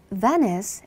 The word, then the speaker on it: Venice: Venice is a city. 베니스는 도시예요. 여러분, 우리 베니스, 베니스라고 많이 하시는데 영어식 발음 ve, ve, s를 쳐서 두 번 가볼게요. Venice, Venice, 깼죠?